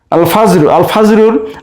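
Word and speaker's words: الفجر: আল ফাজরুর আলিফ লামের লাম উচ্চারণ হচ্ছে, তাই এটিকে আমরা বলতে পারি আল হুরুফুল কামারিয়া।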